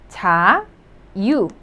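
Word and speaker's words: 자유: So the first syllable has j sound and then the vowel a, so cha. The second syllable, just you could pronounce it as the vowel u, cha yu, cha yu, meaning freedom, cha yu.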